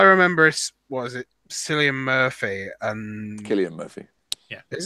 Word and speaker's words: Cillian: Cillian Murphy and Cillian Murphy. is it? I thought Yeah, it's Cillian. Cillian. Oh, Cillian. It's Irish.